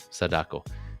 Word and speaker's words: Sadako: Is that how you pronounce that? Sadako.